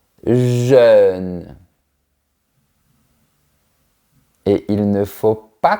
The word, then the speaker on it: jeune: On commence par le mot jeune. Pour bien prononcer ce mot, il faut projeter les lèvres de manière verticale, jeune.